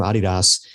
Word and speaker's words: Adidas: In fact, there's a video on YouTube from a guy from Adidas. And by the way, I say it that way because I'm special. It's actually because that's how they say it in Europe.